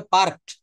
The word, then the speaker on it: parked: এইবার দেখেন এই পার্ক মানে থামানো, আর ওর পরে আমি একটা ইডি যোগ করেছি, এটা উচ্চারণটা হবে পার্কড, PARKED, শেষে একটা ড আসবে, পার্কড।